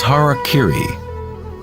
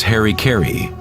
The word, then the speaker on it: harakiri: one form of ritual suicide or seppuku was harakiri was often mispronounced as Harry KY it means to impale one's Hara thereby cutting